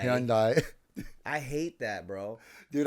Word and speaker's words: Hyundai: my new car okay and uh it's like Hyundai okay all right and then some marks oh